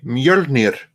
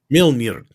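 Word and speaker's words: Mjölnir: Mjolnir. Mjolnir. There we go. Yeah. Rolling the R is the most important thing there.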